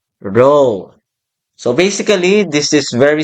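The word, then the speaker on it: rho: It is denoted by the symbol R sub S or the Greek letter this one pronounced as row.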